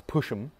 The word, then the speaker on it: PUSHM: And if you want to get to user buffer, you use PUSHM, which we usually pronounce pushem, just for fun.